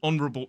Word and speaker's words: honourable: Also, there are some words that have a silent H, like honest, honourable, and hour.